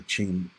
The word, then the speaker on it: Qing: a time where the Ching the Qing Empire okay which was the uh dominant Empire there in China it's spelled q-i-n-g ching was actually in a